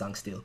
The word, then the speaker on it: Zinkenstill: A boy named Gran and a talking wind lizard named Virn lived in Zinkenstill, an island which yields mysteries. One day, they came across... I completely forgot that it's pronounced Zangstil.